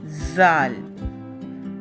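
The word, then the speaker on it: ذال: سیکھیں گے۔ سب سے پہلے ہم کہیں گے زال، زال، زے، زے، زواد، زواد، زوئیں، زوئیں۔ ان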